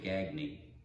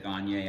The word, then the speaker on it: Gagne: Not long ago, our friend Jeannie, I guess I'll say Gagny, because she told me when I said Gagne, I was pronouncing it the French way, but they say Gagny.